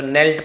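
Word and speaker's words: knelt: नी आपने सुना होगा के साइलेंट होता है तो नेल्ट पढ़ेंगे।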